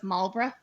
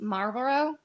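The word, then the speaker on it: Marlborough: So, it's Malra. Then I was like, "Oh, that makes sense. That's a lot easier." So to me, trying to say it like the cigarettes, Marorrow, which is how my brain wants to say it. Yeah. The British way is Malra.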